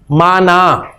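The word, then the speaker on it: معنی: तो मानी नाम की कोई चीज नहीं है जी, उर्दू में हम इसे इस्तेमाल करते हैं, तो उर्दू में ये गलतुल आम आप कह लें कि ये है। असल इसकी प्रोनाउंसिएशन है जी माना।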